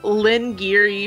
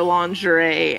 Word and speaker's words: lingerie: And then Lynn Geary for lingerie and repertory for repertoire is two of my